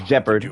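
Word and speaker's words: Gepard: name like like I I think gephard is G man and has always placed great Oh Yes actually pronounced jeopard I think if her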